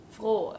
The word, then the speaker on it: froh: that's yeah means joyous Flo with a long stretched o sound and noise means new